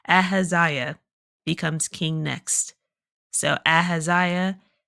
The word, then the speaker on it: Ahaziah: His son Aahia or I've been I keep saying it wrong. Ahaziah becomes king next.